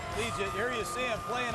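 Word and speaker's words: Liuget: Let's take a look at it's pronounced Legion. Legion, here you see him playing on the nose against Michigan.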